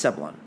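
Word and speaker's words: zabaglione: Which is, it's spelt Zabulone, but it's Sabolone.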